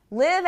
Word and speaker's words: live: Live and leave. These are two often mispronounced words.